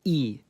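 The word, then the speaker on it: і: In most cases, the sound it makes is E.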